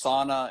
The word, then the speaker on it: Saana: i pronounced it earlier but i think i butchered it so i just want you to you know it's sauna and then how do you say your last